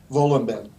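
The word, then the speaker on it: Wohlleben: I think you would pronounce it Volenben.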